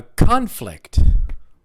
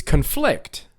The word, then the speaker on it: conflict: that first sentence right everybody say a conflict yeah a conflict is a disagreement or a fight it's a noun right um we have a conflict we had a conflict yeah a fight right the verb is conflict which means to disagree with one another means the same thing but it's a verb right so everybody